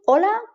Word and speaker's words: hola: H is not very interesting, as it's completely silent, both at the beginning, hola, and anywhere else within a word, alcohol.